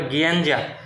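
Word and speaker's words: gianduja: হেজেট এবং কোকো মিশিয়ে গিয়াঞ্জা নামে একটা হচ্ছে গিয়াঞ্জা নামটা ইটালিয়ান ভাষায় এজন্য উচ্চারণটা মনে হবে গেঞ্জা হ্যা গিঞ্জা নামক হচ্ছে একটা পেস্ট তৈরি করে বা হচ্ছে কি বলে এটাকে ফোস্টিং তৈরি করে।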